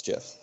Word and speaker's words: GIF: it without saying the word gif was the pronunciation oh it's jiff and it's been officially ruled this jiff I'm with you oh it's official yeah the